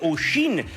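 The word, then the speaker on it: Oisín: Their son's name is spelled O I S O N, which is meant to sound like Oshin, whereas they'd spent years pronouncing it bobby.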